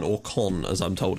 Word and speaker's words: Caen: So, that brings us to today, and we are playing against Stade Caen, or Caen, as I'm told it's actually pronounced.